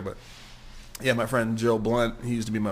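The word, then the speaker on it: Blount: look him up Joe blunt b l o u n t blun is how you really pronounce it but blunt is how he says it but uh he used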